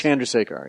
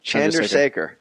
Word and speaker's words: Chandrasekhar: He says, think of John drives a car. That's the closest you can get. John, then just say it fast. John drives a car. Chandrasekhar.